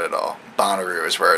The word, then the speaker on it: Bonnaroo: we got to go to this concert called bonero because the first time I saw it online I never heard it pronounced and so yeah I was calling it